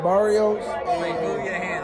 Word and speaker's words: Barrios: It's, how do you say their names, man? Burritos. Mario. Burritos. It's Barrios.